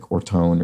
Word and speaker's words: Orton: So George Steele corrects my pronunciation of Orton, which I pronounce something like Ortone or something like that. No, it's just how it looks, Orton.